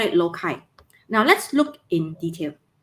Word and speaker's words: loci: if plural we will write it as loci lokai in british uh english means a uk in